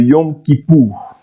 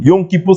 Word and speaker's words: Yom Kippour: Il y avait chaque année, comme je vous ai dit dernièrement, une fête qu'on appelait le Yom Kippour.